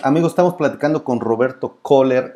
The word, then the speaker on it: Köhler: estamos platicando con roberto köhler esto es correcto pronunciara si tu apellido es k h o lr cola está bien es scratch el herido